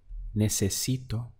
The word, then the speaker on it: necesito: To say I need would be necesito. Let's count the syllables. We have ne, se, si, to.